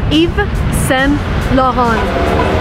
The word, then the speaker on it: Yves Saint Laurent: And again, if you want to be correct, you want to read it in a French manner. So it's Yves Saint Laurent.